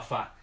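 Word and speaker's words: phở: vietnamita que la sopa fa o se escribe ph of pop' se pronunciaría un ojo pero de ser pronunciar fa es una sopa bastante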